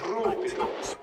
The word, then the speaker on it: Rubido: roll the R, John. Rubido.